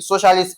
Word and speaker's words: socialist: C, socialist, S O stress, which is the answer.